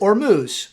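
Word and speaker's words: Hormuz: The South Pars gas field and the straight of Ormuz. I actually looked up the pronunciation. It is or moo.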